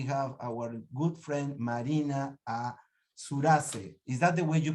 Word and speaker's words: Surace: Next, we have our good friend Marina Surace. Is that the way you pronounce Surace? Yes, well, it's an Italian name, so it should be Surace, but it's Surace. Come andiamo alla sua casa?